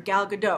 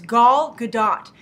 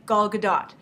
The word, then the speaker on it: Gadot: me as well that she's Israeli so you have to go by the Israeli pronunciation so it's G gdat and I looked it